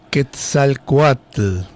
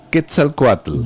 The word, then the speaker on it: Quetzalcóatl: Hay que pronunciarlo muy bien. De nuevo, dígalo. Quetzalcóatl. Quetzalcóatl, Dios del bien, hombre y sacerdote y símbolo de la inteligencia del pueblo.